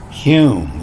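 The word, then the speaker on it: Hulme: how do you pronounce hume you don't pronounce the l and you can see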